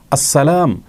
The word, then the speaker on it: আসসালাম: আলামীনের গুণবাচক একটি নাম সেটাকে শুদ্ধ উচ্চারণ করলেই নিশ্চয়ই আল্লাহতালা খুশি হবেন কারোর নামকে বিকৃত করে যদি কেউ উচ্চারণ করেন তিনি কখনো সন্তুষ্ট হবেন না অতএব আসসালাম এভাবে বললে আল্লাহতালা খুশি হবেন আসসালামু আলাইকুম বা এভাবে বিকৃতভাবে যদি বলা হয় সন্দেহাতিতভাবে সেটি আল্লাহর অসন্তুষ্টির